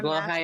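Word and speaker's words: Blåhaj: I'm Blow high is master. the shark. That's how you're supposed to pronounce it.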